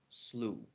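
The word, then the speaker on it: slough: some Australian words and like or uh like slew s-l-o-u-g-h slew oh wow so they're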